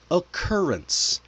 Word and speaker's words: occurrence: How about occurrence? I don't have them written on the slide, but the first two in occurrence are hard and then the one at the end is soft.